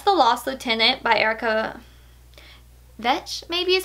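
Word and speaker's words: Vetsch: I'm not quite sure she said it rhymes with wrench like Amazing Grace saved a wrench like me but wrench vinch vinch has an R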